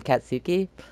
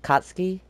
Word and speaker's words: Katsuki: comment below that that um that's how you pronounce it I was saying katsuki it was like katsky and um yeah so thank you to whoever